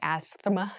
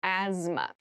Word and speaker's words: asthma: there's a th in the middle but we don't say asthma we say asthma so kind of ignore that but try to remember it when you're spelling this word so asthma is a